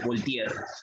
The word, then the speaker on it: Voltaire: Ahí dice Voltaire, profesor, se pronuncia Voltaire, ¿no? Él es un francés.